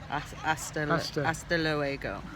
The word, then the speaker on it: hasta luego: I mean, the H is silent, so it is hasta luego.